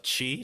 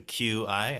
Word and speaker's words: Qi: Well, since we talk about my TikTok, you can find all my goofy stories there at Nick of Chi, spelled with a QI, as we mentioned.